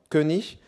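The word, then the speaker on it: König: différence de sens notable le mot allemand kunich qui est prononcé qui est prolongé en allemand moderne sous la forme kenich signifie le roi et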